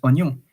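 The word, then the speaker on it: oignon: and then there is onion which is on but when you you read that it's not one wag or it's O like as if the I is not pronounced and the GN is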